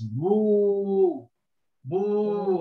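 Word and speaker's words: بوب: Okay, and you have the waw afterwards, which elongates. So it's boo, boo, and here is a ba, which is silent. So we read this as boob.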